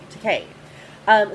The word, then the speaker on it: Takei: Yes, I learned that it rhymes with okay. Takei.